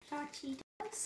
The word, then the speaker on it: Cachitos: Cachitos? No. That's ka. Cachitos. Cachitos.